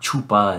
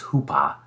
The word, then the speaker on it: chuppah: looking at the hoopa which is spelled c-h-u-p-p-a or c-h-u-p-p-a-h sometimes they leave off the sea it's not chupa it's it's hoopa and it is a